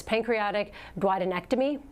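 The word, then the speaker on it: pancreaticoduodenectomy: It's I'm going to try to say this: pancreatic duodenectomy.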